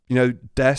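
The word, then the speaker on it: です: And you know when Des is actually spelled Desu. Mm-hmm. She's one of the characters that pronounces the U at the end of it. Oh Desu. no! Yeah, so Desu, Desu.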